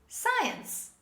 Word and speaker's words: science: they mispronounce this word and they say science now this is not science this is science say with me science as you see the letter c is dropped when we pronounce it to it science say